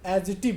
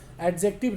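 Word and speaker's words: adjective: ठीक है, एडजेक्टिव जानते थे, लेकिन अब आज के बाद आप एजिटिव बोलोगे। ठीक है, एजिटिव बोलते हैं इसको, एडजेक्टिव रॉन्ग है।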